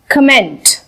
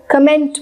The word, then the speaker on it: comment: Next word है कमेंट। हम इसको कमेंट बोलते हैं, COMMENT बन जाता है कमेंट, लेकिन इसका एक्चुअल प्रोनाउंसिएशन होता है कॉमेंट, कॉमेंट।